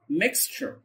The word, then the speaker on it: mixture: mixture mixture mixture. ولاحظ هنا حرف التي بيتنطق تش، دايما التي لما يجي وراه حرف اليو بيتنطق تش تش زي التي والشين كده.